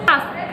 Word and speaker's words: ask: Okay, Don't forget to ask. pronounce the k sound. Yeah, the k sound at the end of the word.